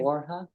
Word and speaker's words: Borja: you Mr borja yes am I pronouncing your last name correctly borha borha yes okay I I never know what to do with the Jays sometime uh did you